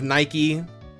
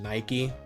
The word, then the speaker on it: Nike: What god is named Nike? Uh, Greek goddess, but I think it's pronounced nik.